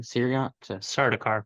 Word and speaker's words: Sardaukar: And like these how you pronounce the name again? Sardaukar. Sardaukar.